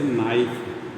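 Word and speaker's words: knife: जैसे नाइफ, अब देखिए यहाँ पे के क्या है, के का साइलेंट उच्चारण, जबकि देवनागरी लिपि में जो वर्ण लिखा जाएगा उस वर्ण का उच्चारण अवश्य होगा।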